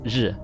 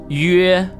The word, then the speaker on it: 曰: No, it's not pronounced 日. Its pronunciation is 约.